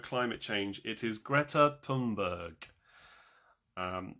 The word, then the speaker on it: Thunberg: It is Greta Tunberg. Um, it's spelled Thunberg, but it's pronounced Tunberg pretty much.